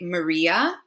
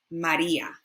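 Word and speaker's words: María: When we pronounce it in English, we would say Maria, Maria, but our A's, remember, are A, Maria, Maria, Maria.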